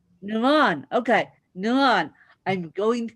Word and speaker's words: NaRon: know your first name but how do you pronounce it nuron nuron okay nuron I'm going to get that straight